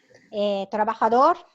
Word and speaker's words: trabajador: Trabajador, Worker. worker, very good. In Spanish, J is like pronounced as like H, no? It's not trabajador, trabajador.